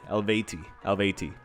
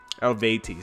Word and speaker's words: Eluveitie: I actually checked up on Google how to pronounce it. ELUVEITIE. ELUVEITIE.